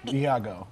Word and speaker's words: Iago: Okay, so you play Ego. Am I saying it right? Iago. Iago. Okay, there we go.